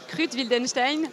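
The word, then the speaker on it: Kruth-Wildenstein: Et ça mène au lac de Krut-Wildenstein. Ouais. Je le prononce bien. Ouais, c'est ça.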